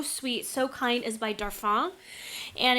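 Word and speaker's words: Darphin: and they're so sweet so kind is by darf ah and it's spelled dar Phin their brand is incredible they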